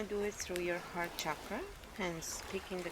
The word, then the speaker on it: chakra: So please, if you are saying chakra, stop it. It's incorrect. It's a Sanskrit word, and the correct way of pronouncing it is chakra.